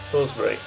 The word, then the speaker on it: Salisbury: But yeah, Salisbury School, and it's pronounced Salisbury, that one.